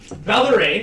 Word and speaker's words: Valeraine: Valeraine, that's right. It rhymes with Dan the Dane.